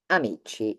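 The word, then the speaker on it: amici: we have um many friends we have e amichi my friends male so either they all male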